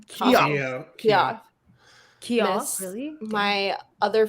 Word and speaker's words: Keough: Keough.